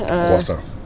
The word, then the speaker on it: croissant: Croissant. Say it. Croissant. That is the French way to say it.